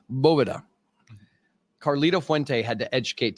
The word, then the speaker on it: Boveda: hell are you doing it is not Boveda it is Bova Caro fente had to